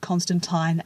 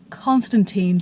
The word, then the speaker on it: Constantine: apprised that John Constantine's last name is actually pronounced Constantine as per the original pronunciation by Alan Moore. But here's the thing, maybe I'm an ignorant person, but I've always felt that the name Constantine tends to roll off my tongue a lot